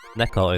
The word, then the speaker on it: Neko: Neko is more like the cat, because that's how you, I think, say it in Japanese. But Nico is just kind of how you would pronounce the word in English.